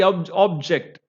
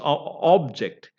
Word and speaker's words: object: the second syllable uh another one is object now I object you know in the court and all you know the lawyers do say first one is object and that is noun and there the stress is on the first syllable that means object means